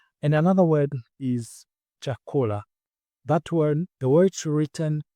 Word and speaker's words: chakula: And another word is chakula. That word, the word written is the way it is pronounced. And the stress is on the last but one syllable, which is ko.